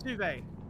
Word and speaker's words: sous vide: I don't know how to pronounce that, Bill, but Bill basically said... Yeah, it's sous vide. Sous vide.